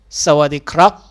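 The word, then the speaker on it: สวัสดีครับ: 디카 대답은 어떻게 할까요 남자는 발음과 성조 모두 똑같습니다 하지만 여자는 발음을 이성 즉 로 톤으로 발음해야 합니다 싸워 d 크랍 사와디캅 여자는 싸워 디카 싸와 디카 그러면 우리가 잘 지냈어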